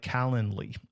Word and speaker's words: Calendly: Then you can set up a tool like Calendly. It's like calendar, but not calendar. It's Calendly.